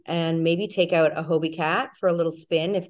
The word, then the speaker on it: Hobie Cat: whale sharks but please tell me about the hobby cat what what is that well it's pronounced Hobie Cat oh Hobie okay there we go not a